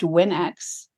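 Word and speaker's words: WNX: so the title is it looks like Winks because it's spelled w NX I'll tell you that story when you ask me about challenges as an author um but it is actually pronounced Winx and the problem solving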